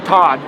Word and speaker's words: Todd: here's here's my theory from Todd and it only rhymes with God right so is that